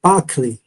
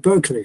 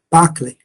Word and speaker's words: Berkeley: 哲學家，咪發音係 Berkeley，唔係 Berkeley 啊，Berkeley。